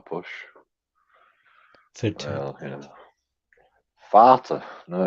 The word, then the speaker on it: Vater: It happens that the V of victory in German, it is pronounced like the F.